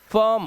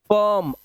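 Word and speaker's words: firm: Shirt, chirp, dirty, फर्म, और इन सब में आई का जो उच्चारण है वो देख रहे हो आप, ना तो ई है ना आई है, ये आवाज है अ की। फर्म a, dirty, bird, shirt,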